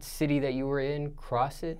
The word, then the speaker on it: Crossett: of Arkansas that you're in how do you pronounce it one more time cross it cross it I never heard it well now